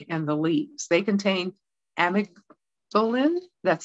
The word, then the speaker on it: amygdalin: as the bark and the leaves they contain amicolin that's spelled a-m-y-g-d-a-l-i-n amygdalin now this is a compound that produces